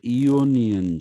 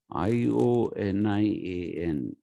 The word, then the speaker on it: Ionian: the malaysian school is also sometimes called the eonian school i o n i a n it's called the ionian school because of the